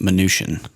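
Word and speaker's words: Mnuchin: MC nuken nukin probably I believe it's pronounced minian is it minian thanks buddy uh stepen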